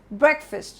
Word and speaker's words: breakfast: However, the way it is pronounced, it is not breakfast, but it's breakfast, like breakfast, breakfast, okay? And the stress is on the first part.